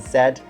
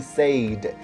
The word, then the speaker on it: said: past which is said remember the difference in terms of pronunciation between say and said his desk say and set a lot of people to say it he sayd does not say it would be said so let's let's write